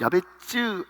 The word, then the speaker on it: 야베스: 보면 야베스라는 사람이 나옵니다 야베스 원래 원어 그대로 발음하면 야베쯔 이렇게 발음해야 돼요 근데이 야벳지가 어떤 뜻을